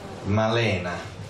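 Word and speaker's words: Malèna: Questo film, Malena, con l'accento grave sulla E, nell'annuncio non c'è, però io ci tengo molto, è un film, è una storia d'amore che mi piace molto.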